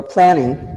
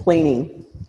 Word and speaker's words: dermaplaning: The next word is dermaplaning, or planning, but it's planing.